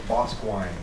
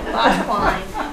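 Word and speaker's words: Boscawen: Well, my other aunt says, no, no, no, it's Bosquine.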